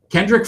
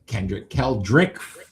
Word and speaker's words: Keldrick: Kendrick Falk. You got it. That's another one. That's number 4. Keldrick.